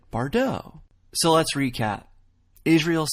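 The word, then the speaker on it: Bardot: French actress and singer we just say it like she would say it bardeau so let's recap Israel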